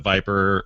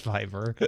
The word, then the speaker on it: Viber: Camp inhabitants use phones to connect to the Wi-Fi and use WhatsApp, Viper, or Viber rather, and the like. It's Viber.